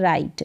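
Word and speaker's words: write: लिखना और यहां पर यह जो डब्लू है ना ये साइलेंट दिखाई देगा आपको यानी इसका उच्चारण हो भी नहीं रहा है से उच्चारण हो रहा है राइट डब्लू यहां पर साइलेंट है राइट का मतलब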